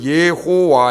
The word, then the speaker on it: 여호와: 거 번역하고 그런 사람들이 이걸 그냥 소리나는 대로 읽어가지고, 소리나는 대로 읽으면 예호와 이렇게 됩니다. 여호와가 돼버렸어요, 하나님 이름이.